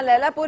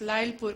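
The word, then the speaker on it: Lyallpur: I think pronunciation में मे be mistake है। जहाँ तक मैंने सुना अपने वालिद साहब से, इट्स लाइलपुर कहा गया है।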